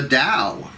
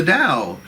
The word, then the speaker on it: Tao: clarity kuan yin the dao the dao now it is spelled t-a-o not d-o-w d-o-w is a chemical